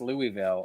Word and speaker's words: Louisville: ] on Jamie easy bait coven it's actually pronounced Louisville okay well I'm Canadian so I don't care